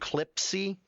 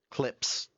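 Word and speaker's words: Clipse: It's like, how do you pronounce the band? Clipsy? Or band artist? Clips. Just Clips.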